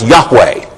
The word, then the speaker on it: Yahweh: is called the tetragrammaton these four letters in Hebrew that we usually pronounce Yahweh and the derivative of